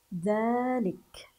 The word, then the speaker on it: ذلك: بهذه الطريقه الرحمن نسمع الف ولكننا لا نجدها اثناء القراءه ذلك ذلك ذلك ذلك هذا هو نطقها بهذا الشكل الله اذا اذا اذا لكن الرحمن ذلك لكن في الحقيقه كيف هي كتابتها كتابتها الصحيحه بهذا الشكل تحذف هذه الالفات هذه الالفات غير موجوده اثناء الكتابه وان كانت موجوده اثناء النطق سنقول الله الى الى